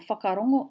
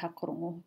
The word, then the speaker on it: whakarongo: In Northland, they drop the W, not the H. Can I change that now? I can change that now. So for whakarongo, to listen or listen up, they say hakarongo.